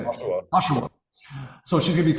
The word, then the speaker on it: Oshawa: Oshawa.